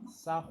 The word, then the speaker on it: Sahu: Bon, on dit Sahu Parce qu'en fait, c'est roulé en fait par rapport en fait au copte. Mais si vous voulez, ça s'écrit S-A-H-U. Donc, si vous voulez, ça s'écrit Sahu. Mais on roule en fait le R pour faire Sahu.